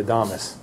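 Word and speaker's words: Adamas: And I've heard people call it the Adamus. Yep. Either way. Either way. Yeah. Either way, Adamus is probably is probably the proper pronunciation.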